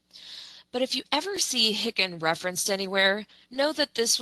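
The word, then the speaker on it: HICN: claim number or you may even hear it pronounced as Hickin. Medicare did away with the hick numbers back in 2020, but if you ever see Hickin referenced anywhere, know that this was the patient's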